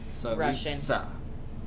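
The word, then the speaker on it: Tsaritsa: Maybe a final battle with the Saritsa. Saritsa. You kind of have to pronounce the T into an Saritsa. S. Saritsa. It's Saritsa.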